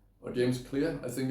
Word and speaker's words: Clear: learning new habits and I would definitely recommend James Clare or James Clear I think it's pronounced he's the author of atomic habits and